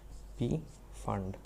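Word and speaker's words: Pfund: is called p fund p is silent p fund after that it is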